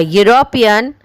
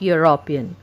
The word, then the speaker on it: European: A European artist and an engineer. Look at the fifth point. The word is starting with E, but when you speak this word, you will hear the sound of U.